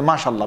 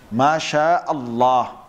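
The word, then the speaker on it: ما شاء الله: Just like, you know, when some people say Mashallah, Mashallah. It's actually wrong. The proper way to say what? Is what? Masha'Allah. Masha Allah. That's the proper way of saying it.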